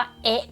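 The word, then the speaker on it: へ: มย H เฮะ นะ แต่ ว่า ถ้า เกิด เป็น คำ ช่วย ปุ๊บ เรา อ่าน ว่า เอ๊ะ ก็ พอ นะ ตัด ตัว H ออก ไป เนาะ เหลือ แค่ เสียง เอะ เข้า ไป นะ ต่อ มา ค่ะ โมด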